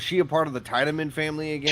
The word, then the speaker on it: Tiedemann: Is it Tiedemann or Tiedemann? Because of course the pronunciation it Tiedemann. looks like in the English dub, it's pronounced Tiedemann. In the English dub, I don't know if it's pronounced the same way in the German-speaking version. Tiedemann. Yeah, German is definitely Tiedemann.